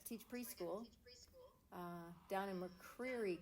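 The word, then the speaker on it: McCreary: preschool uh down in mcer County which I think they most of the locals pronounce it mcquery County which I think at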